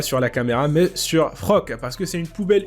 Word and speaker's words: Floch: Et donc, là, on passe à Frock. Bon, je sais que ça s'écrit Floch, mais j'entends bien, ils disent Frock.